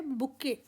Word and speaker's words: bouquet: Correct spellings होंगे BOUQUET, इसमें T silent है।